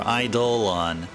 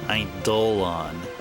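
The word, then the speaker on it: Eidolon: All right, let's go over to the Idol and wall or Idolon. That's how you're supposed to pronounce it. Idolon. I've been saying it. I've been seeing it as idol and it's probably actually Idolon.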